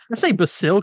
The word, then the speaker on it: Basil: Created by Bill Finger and Bob Kane, the original Clayface, Basil Carlo. Now, how do you say it? I say Basil Carlo, but I think it's Basil. Basil? Like the spice? I always said Basil.